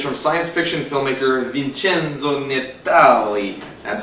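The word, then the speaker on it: Vincenzo Natali: from science fiction filmmaker Vincenzo netale that's how you say his name I think it is I just like to sing Italian names like that and this is just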